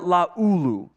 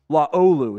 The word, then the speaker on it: Laulu: Milai Sala Amuvai Laulu. Oh, no. Laolu is how you pronounce it.